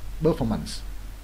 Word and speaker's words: performance: performance, có nghĩa là performance. Đấy, vậy đọc lại nghe nha. Confidence, nhấn lần đầu. Opinion, nhấn lần hai. Proposal, nhấn lần hai. Performance, nhấn lần hai.